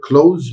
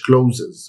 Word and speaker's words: clothes: أيوة دي بتتنطق close مش closes. Closes غلط.